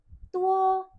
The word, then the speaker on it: 多: Tuwo pakai D. Nah, D-nya ini dibaca seperti T. Tua.